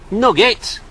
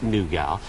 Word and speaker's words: nougat: me or do me i know it's pronounced nougat but i'm from manchester they're in manchester they say nugget all right sorted hey